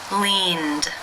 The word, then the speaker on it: leaned: The final sound of the verb in infinitive form is the n consonant sound. This is a voiced consonant. Therefore, it is case 2, where the ed is pronounced as the d sound.